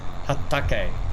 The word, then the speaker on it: Hatake: thing and I'm loving it Hatake yeah Hatake Hatake is that how you pronounce it yes okay yes BR okay yes